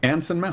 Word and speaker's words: Anson Mount: How do you pronounce his name, though? Anson. Anson Mount.